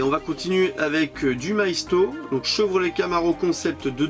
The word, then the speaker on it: Maisto: on va essayer, ou Maito, je sais pas comment vous prononcez. Moi je prononce ça Maisto. Je prononce toutes les lettres.